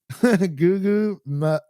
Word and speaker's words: Gugu: But how do you pronounce this? Good Gugu? luck. Gugu.